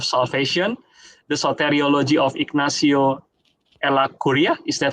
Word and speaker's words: Ellacuría: His previous book, Bearing the Weight of Salvation, the soteriology of Ignacio Ellacuría, is that how to pronounce it? Ellacuría?